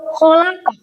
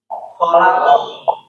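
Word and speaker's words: خَلَقْ: Bacanya itu khalaq karena ada wakaf. Nah, baris fathah ini kita ubah menjadi bukan kita ubah ya, dibacanya itu mati karena ada si ini si wakaf. begitu.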